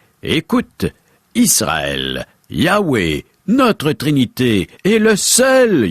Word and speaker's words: Yahweh: Ce mot se prononce « Yahweh » ou « Yahvé ».